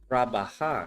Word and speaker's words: trabajar: Now notice trabajar is 3 syllables. Trabajar. I'm going to give you a quick little syllable lesson in Spanish. Trabajar. When a Spanish word has 3 syllables, stress the middle one.